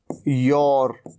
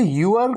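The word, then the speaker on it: your: योर, योर। इसे यूर कहने से बजाय आप कहिए योर।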